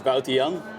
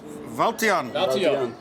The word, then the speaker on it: Wouter-jan: your name for everybody uh my name is valon valon okay that is not how I was pronouncing in in any updates so I apologize